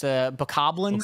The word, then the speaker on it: Bokoblin: I know it's canonically it's Bokoblins. Bokoblins.